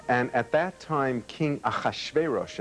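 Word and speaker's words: Ahasuerus: at that time King aash veros as it is pronounced in Hebrew um appointed hmon or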